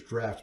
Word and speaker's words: Draught: Draft like a draft beer. Yes. Look at it. Draught. I hear everybody who have ever heard pronounce this card Benefactor's Draught. No, wrong.